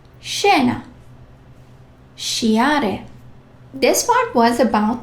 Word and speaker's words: scena: SCI or SCE. sounds like sh. Scena.